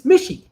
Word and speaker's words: Mishi: so much um um mitchy rhymes with fishy fishy how are you making this so hard it's mishi it rhymes with fishy it's so it's mishy